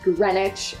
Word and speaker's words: Greenwich: It's Lester Square, it's Greenwich, it's Suffic. Those are names that are difficult to pronounce.